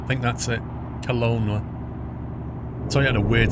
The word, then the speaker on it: Kelowna: It sounded like Cologne, but it's not spelled like that. Flopsy Doodle, you don't mean the old Hong Kong runway, the Kai Tak, do you? That's it, Kelowna.